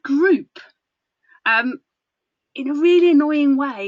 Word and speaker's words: Groop: It's called Groop. In a really annoying way, it's called Groop. That's spelled Groop.